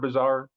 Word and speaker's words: Bazaar: It's not bizarre like bizarre, it's bazaar.